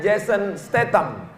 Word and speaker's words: Jason Statham: Pagi tadi saya buka handphone, waktu ngelihat YouTube, halaman pertama berita tentang Jason, tulisannya Jason, bacanya Jason Statham, artis laga, tahulah, mobilnya bagian kap depan dia buat gambar bendera Palestina.